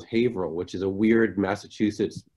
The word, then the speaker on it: Haverhill: Yeah, well, and not to correct you, but it's actually, this is what we pronounce Haverhill, which is a weird Massachusetts thing, because it's Haverhill is a town that I grew up in.